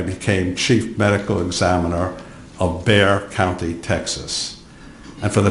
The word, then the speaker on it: Bexar: In 1981, I became chief medical examiner of Bexar County, Texas. And for the transcriber, Bexar is spelled B-E-X-A-R. The X is silent.